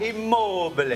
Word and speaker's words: Immobile: Immobile.